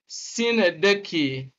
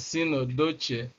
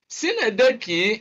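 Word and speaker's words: synecdoche: The first line gives us a poetic device that is known as Sinedeki, all right? Although some people might try to argue Sinedeki. Of course, some students mispronounce this as Sinodoche.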